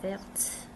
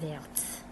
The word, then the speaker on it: verte: La chaussure est verte with an E. Before we didn't pronounce the T. Le blouson est vert. La chaussure est verte. We're pronouncing the T because there's an E at the end.